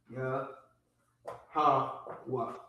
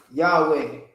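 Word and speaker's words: יהוה: So the correct pronunciation is Yah, ha, wa. Not Yahweh. There is no Yah, there's no E or A. It's not Yahweh.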